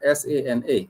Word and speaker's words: sana: if someone says sana, S-A-N-A, which is sana, the two syllable word sana, S-A-N-A, that means a lot or very, a lot or very.